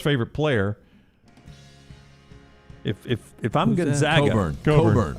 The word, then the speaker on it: Cockburn: If I'm Gonzaga, Coburn. Oh, go look how it's spelled.